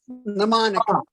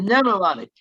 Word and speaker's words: mnemonic: Don't look at the M. Don't look first letter, and just mnemonic. The mnemonic. Forget the M.